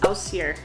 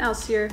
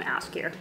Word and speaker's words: Ásgeir: I actually learned how to pronounce that at a car rental place in Iceland where the person giving me my car was named Ausir, and I asked, how do you pronounce your name? So props to that guy for being named Ausir and introducing me to the beautiful pronunciation of this musical artist, because I was calling him Askir.